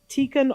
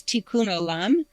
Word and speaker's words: tikkun: What is tikken olum? And have I said it wrong? Um it's pretty close. Tikkun, okay.